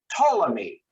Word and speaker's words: Ptolemy: down here in egypt you don't pronounce the p it is pronounced ptolemy but um in our